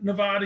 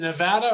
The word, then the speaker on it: Nevada: Is it Nevada or Nevada? Tomato.